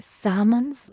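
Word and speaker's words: salmon: Alright, अब देखो इसे हम क्या पढ़ते, इसमें एल साइलेंट है, सैमन्स गलत है।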